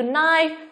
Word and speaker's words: knife: Nào, chúng ta thấy rằng là âm k là âm câm trong ba cái từ là từ từ A của chúng ta là từ gì đây nhỉ?